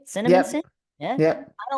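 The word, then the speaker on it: Cinnaminson: Did I pronounce that right? Cinnamonson?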